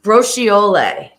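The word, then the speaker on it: braciola: get steamy so uh Colleen gave us the pronunciation of the Italian I got it from Rose Johnson too and they both spelled it exactly the same way rochioli Bros brochiola brochiola brooch brooch like a brooch that you would wear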